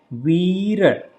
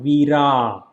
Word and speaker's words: Vira: and say so it is a Veer Veer not Veera Veera single a right so we read so we will be extended sound so vir then here